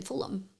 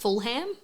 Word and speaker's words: Fulham: Um my friend lived in Fulham. Ah. Which I thought was pronounced Fulham.